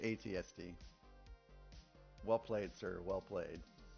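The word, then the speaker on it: AT-ST: Uh, you said at at is how it's pronounced. No, you would say ATSD.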